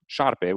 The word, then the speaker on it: șarpe: in Romanian, what that did is created the word șarpe, which is the word for snake. And it uses that S with the tail at the bottom.